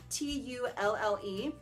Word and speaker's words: Tulle: got it in the color Tulle or Tully, I'm not really sure how to pronounce it. It's Tulle.